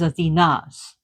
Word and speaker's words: Athena: So some people feel that Medusa is Athena's shadow side. And notice how I say Athena emphasis on a that's how it's pronounced in Greece where Athena represent is Athens and Athena is the goddess herself.